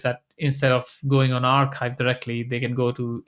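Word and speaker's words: arXiv: So uh there's an RXIV which is very popular but it lacks quality I think they pronounce it. Yeah archive.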